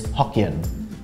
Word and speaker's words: Hokkien: But Fujian, pronounced in Taiwanese, is Hokkien.